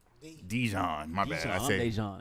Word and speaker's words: Dejon: Dejon Djon, my bad.